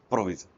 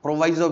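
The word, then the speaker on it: proviso: तो उसको हम क्या बोलते हैं, प्रोविजो। कुछ लोग इसको सही से प्रोनाउंस प्रोवाइजो भी प्रोनाउंस करते हैं, तो वैसे प्रोविजो होता है। ठीक है, प्रोवाइजो प्रोविजो जो भी बोलो आप।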